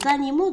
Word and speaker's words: animaux: الآن الكلمتين هما animaux. animaux. هنا mot M A U mot، لأن الحرف A والحرف U ينطقان O.